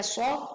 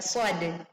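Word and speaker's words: ص: Meskipun ada tanda baca, kita tidak membaca "sh," tetapi kita membaca "shad."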